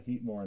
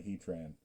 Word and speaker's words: Heatmor: My favorite was when he pulled a Heatmore and called it a Heatran.